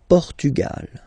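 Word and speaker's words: Portugal: Gra that open okay pug portug okay don't insist on the final because basically it's not pronounced Lal Lal okay so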